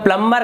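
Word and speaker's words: plumber: हैं तो उसे हम प्लम्बर कहते हैं, जो कि एक्चुअल में उसका जो उच्चारण होता है प्लम्बर नहीं होता, वहां पर बी साइलेंट होता है, उसे प्लम्बर कहते हैं हम।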